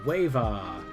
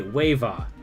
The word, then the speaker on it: WAVAW: Mellow Minis, Wava, if you want to pronounce it... Okay, Wava. That is much easier than WAVAW.